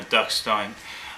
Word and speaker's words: Duckstein: called dukin blown orinal something like that part my pronunciation or you could just call it Duke Stein or duckstein um it's from Hamburg